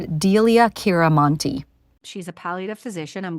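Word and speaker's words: Delia Chante: here is Dr uh Delia uh Chante MD I'm going to pause here and quickly correct my mispronunciation her name is Dr dilia kiranti she's a paliative physician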